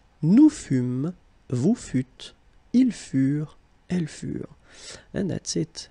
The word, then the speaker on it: furent: Keep in mind that ENT, you know, the ending for the plural form is never pronounced, though.